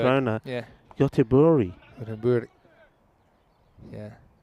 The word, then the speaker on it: Göteborg: When I got to We say Gothenburg. Landskrona, Yeah. Göteborg.